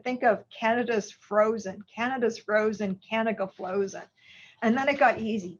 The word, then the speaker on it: canagliflozin: But the first one to come out in the market is canagliflozin. And when people were teaching me about it, they said, think of Canada's frozen, canagliflozin.